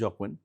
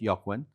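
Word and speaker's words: Jógvan: So so my team told me it's Jacquwin. Then I did my research. It's Ywan.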